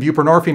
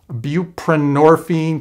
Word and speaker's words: buprenorphine: pretty easy to pronounce buprenorphine kind of rhymes with morphine nobody can pronounce it